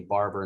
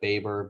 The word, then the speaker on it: Baber: my name wrong and called me barber instead of baber but did you first